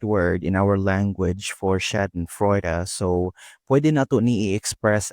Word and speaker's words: Schadenfreude: How do you pronounce this? It's Schadenfreude.